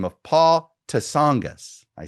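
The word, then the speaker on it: Tsongas: Uh, in 1992, there was a a former one-term senator from Massachusetts by the name of Paul Tasangis. I say Tasangis because the first time you're like, who's this guy?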